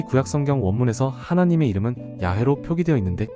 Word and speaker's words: 야훼: 그들은 다른 고대 문헌들을 비교하고 언어학적 분석을 통해 연구한 결과 야해가 가장 유력한 발음이라고 결론지었습니다.